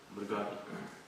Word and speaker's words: Murgari: Murari. How do you say his name? Mur something. Murari. Murga means animal. Ari means enemy of an animal. Murgari.